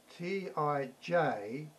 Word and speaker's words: Tijuana: That's how I pronounce it, but it's spelt T-I-J-U-A-N-A. I think the J is silent.